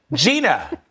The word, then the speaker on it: Jeanna: Did I say it right, Jenna? Jeanna, thank you. But you got the last name right.